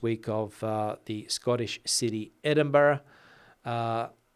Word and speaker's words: Edinburgh: Scottish City Edinburgh uh everybody here in Spain that I've ever taught English to pronounces that word wrong because they don't understand that the end of that word Edinburgh the b-r-u-g-h I think it is is pronounced like that and not Berg which would be the logical way to pronounce it I suppose like the